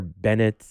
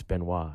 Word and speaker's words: Benoit: again with my father he's like no it's benoit you know okay it's benoit you have to pronounce it that's the right way okay yeah that's the